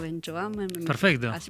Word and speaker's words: Benchoam: a eh el psicólogo Damián que el apellido Benchoamo.